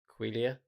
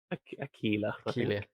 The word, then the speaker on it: Aquila: Aquilia? Aquila.